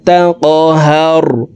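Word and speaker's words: تَقْهَرْ: فأما اليتيم فأما اليتيم فلا تقهر, কফ কলকলার হরফ উপরের দিকে ধাবিত করে ধাক্কা দিয়ে উচ্চারণ করব।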